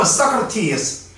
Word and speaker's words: Socrates: 영어 발음은 Socrates.